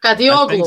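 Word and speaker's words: Kadıoğlu: I cannot pronounce his Kadi Waglu. Kadi Verlaglu. Yeah. Is that the one? Yeah. Kadioglu.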